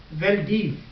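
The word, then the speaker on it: Wildeve: वेलडीफ. आखिर में वी है लेकिन आप इसे प्रोनाउंस करेंगे एफ साउंड प्रोनाउंस करेंगे. एफ फॉर फैन. F sound produce करेंगे. वेलडीफ से वेलडीफ.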